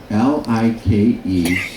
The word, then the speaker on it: Like: So the I is pronounced as an E.